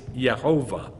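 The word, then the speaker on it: יהוה: Yod on top and a Shva underneath. And guess how they're written? Yeah. Yeh-shua. Yeh-ho-vah. Yeh-who. Hundreds of them. So it's Yeh-ho-vah.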